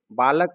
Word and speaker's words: बालकः: इसका उच्चारण ह के समान होता है। जैसे बालक में विसर्ग लगा दिए तो बालकः। जिह्वा मूलीय और उपपदमानीय, इसका प्रयोग